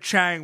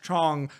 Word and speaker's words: Chang: absolutely no but you you said it Chang when it's pronounced Chong just in case they